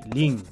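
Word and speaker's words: ลิง: le singe le singe ça se dit Ling Ling la prononciation du G à la fin est très discrète ensuite serpent c'est un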